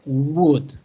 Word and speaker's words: would: Okay, and we are using the modal verb would, okay? Look at the pronunciation, would, okay? I am trying that in the pronunciation to omit the L, okay?